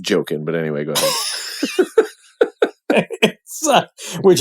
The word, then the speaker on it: Joaquin: I love Ari Aster so much, and I love Joaquin Phoenix. And when the movie started, it was like... It's pronounced joking, but anyway, go ahead.